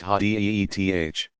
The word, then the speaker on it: hadith: This material is known collectively as hadith, sayings or traditions, pronounced hadith.